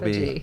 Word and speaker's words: autophagy: That is not how you pronounce that word. It is USOB. autophagy. Yes.